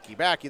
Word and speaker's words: Baki: Wrestler, and I always say his name wrong. Baki, I think. Chris Baki. Baki. There we go. It's like Baki spin.